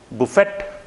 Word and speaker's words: buffet: Buffet? Buffet? No. That would be buffet.